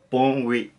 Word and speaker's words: bonne nuit: So you kind of want to continue it, like it's like a slide. So bon oui, so bon oui, if that makes sense.